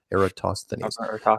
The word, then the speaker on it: Eratosthenes: And that's the thinking from, oh boy, or that experiment, Eratosthenes. Good, I pronounced it right. Eratosthenes.